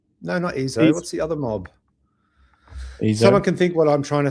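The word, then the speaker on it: EIZO: Oh, it's pronounced EZO. That's okay. Not EZO, despite the fact that it's pronounced with an E.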